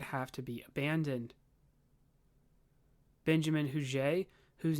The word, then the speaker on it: Huger: that Norfolk would have to be abandoned Benjamin huge whose name is actually spelled Huger but it's pronounced in the French hugueno way would be